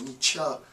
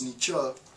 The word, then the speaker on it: Nietzsche: side note, I recognize I was pronouncing his name incorrectly in the first installment. I said Nietzsche, it's Nietzsche. Well, this marks the beginning